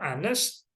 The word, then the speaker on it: honest: Sementara honest diawali dengan bunyi vokal, oleh karena itu kita harus menggunakan an.